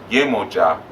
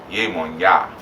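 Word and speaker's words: Yemọja: They also don't pronounce J's. So instead of Yemoja, they say Yemonya. Same person. Okay, they just don't like J's.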